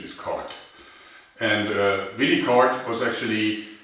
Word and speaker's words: Korth: Now, I know that Americans would probably like to pronounce as Corf, but the correct German pronunciation is Cart.